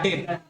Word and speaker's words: debts: इसके अलावा और कौन सा लॉस होगा, बैड डेट, लिखे यहां पे बैड डेट, बैड डेट, BAD बैड, DEBTS, यहाँ बी साइलेंट रहेगा। बैड डेप्स होता है लेकिन पढ़ते हैं बैड डेट, क्या बोलते हैं, बैड डेट, ठीक है।